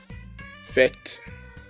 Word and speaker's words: fête: E with an accent grave is pronounced as E in the word get. So we have neuf, fête, professeur, université.